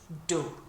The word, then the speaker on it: d'eau: D'eau. So think of Homer saying Deau when he's remembering something or bumping his head or whatever he does. Deau is how we pronounce it, and like I say,